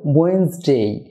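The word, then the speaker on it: Wednesday: Dear viewer, ওয়েডনেসডে হবে ওয়েন্সডে, এক্ষেত্রে প্রথম ডি এবং এন এর পরের ই উচ্চারণ হবে না, তাই ওয়েডনেসডে হবে ওয়েন্সডে।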